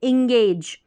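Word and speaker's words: engage: इंग पढ़ा, क्या पढ़ा, ई एन जी को पढ़ेंगे इंग, यानी ई और ये बिंदी के रूप में आधा न आ जाता है, इंग, और जी को ग, ये उच्चारण हो गया इंग एज, इंगेज।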